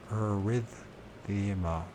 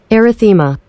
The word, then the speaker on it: erythema: old sunburn, and so arrhythmia. Let's make sure I'm pronouncing that right. Which I'm sure I'm not, because I haven't. Erythema. Erythema, that's what it is.